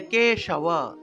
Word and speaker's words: কেশব: ব হলো অন্তস্থ ব, অন্তস্থ বকে ওয়া হিসেবে উচ্চারণ করতে হয়, অর্থাৎ ওয়া ওয়া। তাহলে কেশব কেশব।